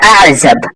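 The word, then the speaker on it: أعزب: এখানে জা জিম এগুলোর উচ্চারণ অনেক পার্থক্য আছে, এগুলো একটু খেয়াল করবেন। এখানে আযাবের মধ্যে এটা হচ্ছে কি জা, সেজন্য জায়ের উচ্চারণ করতে হবে।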